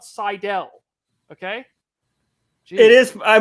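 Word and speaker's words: Seidl: But I love this quote and just want to give it out to Miss Seidel and to Miss Fryricks.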